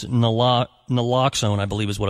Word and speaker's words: naloxone: And I know a lot of places, like in 1999, community opioid overdose prevention programs started distributing naloxone, which I'm sure we'll talk about, to bystanders